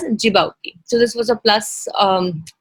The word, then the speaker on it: Djibouti: the horn of africa this is not called as djibouti or dg bhuti or something like that it is pronounced as as djibouti so this was a